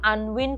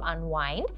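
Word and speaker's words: unwind: যেমন একটা জায়গায় তিনি বলেছিলেন যে এই টাইপের অ্যাক্টিভিটিগুলো ওনাকে আনউইন্ড করতে হেল্প করে, বাট উই নো যে এখানে কিন্তু কারেক্ট প্রোনাউন্সিয়েশন হওয়ার কথা ছিল আনওয়াইন্ড।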